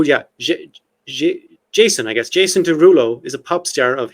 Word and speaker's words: Derulo: But actually, his name is Derulo, as in Desrouleaux. Okay. But in French, you pronounce it Derulo, right?